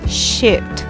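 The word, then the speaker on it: sheet: É escrito com dois es, mas se pronuncia com som de i. Shit, shit.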